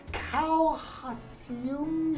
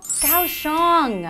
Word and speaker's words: Kaohsiung: If it's called Kaohsiung, why is it spelled with like K and H-S-I-U? Like, it's such a weird... Okay, that's Kaohsiung. It's Kaohsiung, that's right. The spelling is so weird sometimes of Chinese into English.